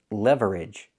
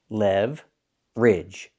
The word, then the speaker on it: leverage: The word is not pronounced leverage. We do not use three syllables with this word. You cannot say leverage. We say leverage. Make it two syllables. Levage.